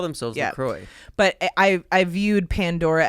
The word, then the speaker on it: La Croix: Lacroy um where it's like you want is Lacroy obviously it's it's pronounced Laqua in French but I think the brand calls itself Lroy they call themselves Lacroy but I I viewed Pandora as that where